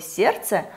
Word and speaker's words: сердце: Например, для проверки непроизносимой согласной в слове «сердце» мы можем подобрать слово «сердечко», где мы отчетливо слышим нашу непроизносимую согласную «д».